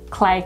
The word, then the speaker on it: CLE: So CLE Cosmetics is pronounced CLE. It's not CLE, which we thought for the first bloody 6 months when we...